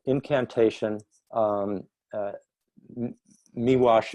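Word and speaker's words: Miłosz: called incantation um uh me wash is spelled m-i-l-o-s-z it's polish you know chess wall same same unusual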